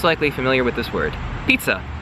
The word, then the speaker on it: pizza: The letter I in Italian is pronounced like the letter E in English, okay?